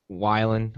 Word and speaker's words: Weiland: I don't know why I say Whelan. I'm not going to stop calling him Scott Whelan. Wait, I it's know not it. Whelan? No, it's Scott Weiland. That's how his name is pronounced.